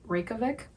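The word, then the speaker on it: Reykjavík: And Reykjavik, I think I'm pronouncing it with American accent, and it's actually Reykjavik. Reykjavik, that's how they pronounce it.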